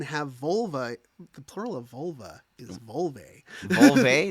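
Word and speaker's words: vulvae: a bunch of vol it's pronounce v it's v u l v a e Volve Vol like larve yeah uh but you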